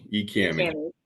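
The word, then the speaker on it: EKAMI: So when it comes to eCommy, how did you? Am I saying that? Is it eCammy? eCammy. As it's pronounced in Eastern Kentucky.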